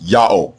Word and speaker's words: Yahweh: He was told by Hebrews in the 1st century BCE that the proper name of the God of the Hebrews is pronounced Yahweh, exactly in agreement with the Egyptian record and with the much later Assyrian record.